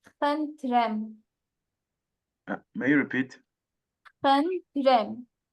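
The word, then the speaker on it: խնդրեմ: You can say Khantrem. May you repeat? Khantrem. Kandrem. Khantrem. Kandrem. I'm not getting well the pronunciation.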